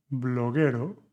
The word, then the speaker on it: bloguero: Tres, bloguero, suena como Gales.